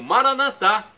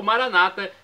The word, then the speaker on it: Maranata: do aramaico Eu Clamo maranat como dizemos nós católicos com a tônica na última sílaba ou Maranata com a tônica na penúltima sílaba como dizem nossos irmãos separados os evangélicos ou protestantes não importa pronúncia será o